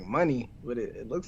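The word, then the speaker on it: Moné: last name is it money she pronounced it like the currency like money but it it looks like Monet to me but she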